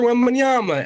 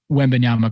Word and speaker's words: Wembanyama: If that storyline is looming larger, and it's just Victor Wembanyama and the play-in tournament, I think the league will be fine.